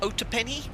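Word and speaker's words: Otopeni: two zero Niner and it's pronounced Oh - penny Oh - penny Tower and one pronounced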